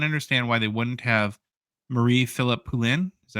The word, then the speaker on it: Marie-Philippe Poulin: I can't understand why they wouldn't have Marie-Philippe Poulin. Is that how you say her name? Yeah. Marie-Philippe Poulin.